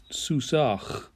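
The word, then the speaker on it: סוּסָהּ: in certain particular situations here's an example for you if you have a if you have a noun like soos which means horse and you want to make it her horse with a feminine singular third-person ending it's susach and the mapik there makes it a harsher sound you'll remember that when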